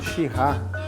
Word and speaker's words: Shiraz: Toda a cocção que você for utilizar vinho tinto, o ideal é você utilizar da uva Syrah ou Shiraz, né? Tem esses dois tipos de pronúncia, tá?